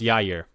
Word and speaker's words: Jair: Yeah, I think it's actually pronounced Yair. Yair? I think it's a Y sound.